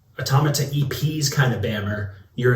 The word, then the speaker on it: Automata: Side note, I've been saying for years and only recently realized it's pronounced automata, like automaton or automaton.